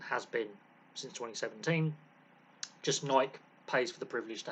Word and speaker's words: Nike: playing Gear uh now Nike yes that's the American pronunciation of this company um which is an